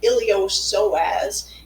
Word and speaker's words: iliopsoas: so this um word the p is silent it's called iliopsoas and it's actually made